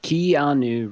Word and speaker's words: Keanu: then five really terrible ones his no it's Keanu Reeves kanu re what the heck icky you